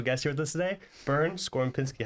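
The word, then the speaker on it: Bernd Skorupinski: a very special guest here with us today burn scor Pinsky how you doing perfectly pronounced thank you so much for I always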